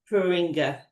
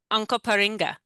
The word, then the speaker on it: Onkaparinga: Could you pronounce that again? Because I want to make sure we get it right. Onka Onkaparinga, Onkaparinga.